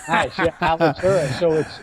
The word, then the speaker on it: Alitura: So tell us about Alitura. Did I say it right? You did. All right. Nice. Yeah, Alitura.